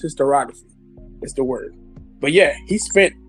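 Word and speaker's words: historiography: And it's just and it's pronounced hysterography. I don't know why I couldn't say it right today. It's hysterography.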